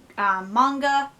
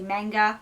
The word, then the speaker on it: manga: was pronouncing it, because I was pronouncing it manga, because sometimes when I'm talking fast, and especially on video, I just pronounce the words as I see them, and I see manga, so I pronounce it manga, but it's manga with an H in there, like H sounding, yeah.